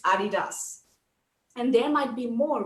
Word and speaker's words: adidas: to stay silent well the actual pronunciation is adidas and there might be